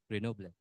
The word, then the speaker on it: Grenoble: This is a university in France, in the city of Grenoble. How do you pronounce Grenoble?